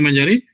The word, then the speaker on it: Mayari: Dígame, Mayari. Es sin acento en la I, licenciado.